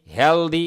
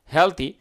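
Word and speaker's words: healthy: কি থাকব কি থাকব হেলথি হেলদি এরকম না হেলথি সুস্থ আমি কিন্তু সুস্থ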